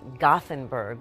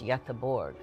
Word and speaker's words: Göteborg: I lived in Gothenburg, but it's pronounced in Swedish, Göteborg.